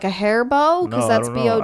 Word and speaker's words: Beau: follow his name is like how do you pronounce it be bow oh oh that's just how it's pronounced yeah